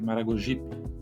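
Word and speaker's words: Maragogipe: posições átonas ou seja esse P ele nunca leva acento tônico não pronunciamos sergip Maragojipe mas sergip Maragojipe por isso escrevemos o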